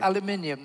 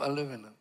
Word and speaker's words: aluminium: main Space Age Alo aluminium not aluminum I use the degraded American version aluminum I don't add extra uh syllables to yeah so so